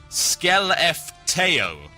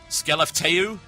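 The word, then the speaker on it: Skellefteå: Now, I've also been told that it is pronounced Skelefteo. Skelefteo? Yes, Skelefteo.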